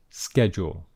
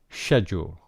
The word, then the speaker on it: schedule: schedule and in fact this has two different types of pronunciation and this is the American pronunciation schedule okay but there is also a British English pronunciation schedule okay so here we